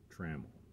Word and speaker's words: Trammell: Some people pronounce it Trammell, but the true pronunciation is Trammell.